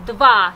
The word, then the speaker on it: два: Один, два, три, четыре, пять.